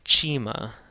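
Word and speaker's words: ϭ: This is the chima. The chima is the equivalent of cha. So it's cha as in church.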